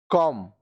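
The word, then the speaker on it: comb: B silent. अब ये सारे जो वर्ड्स है इसमें बी साइलेंट होगा। कॉम, कॉम, कंघा, कॉम, कंघा, लैम, मेमना, लैम, मेमना, थम, अंगूठा, थम, अंगूठा।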